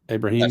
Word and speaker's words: Abrahim: Abraham.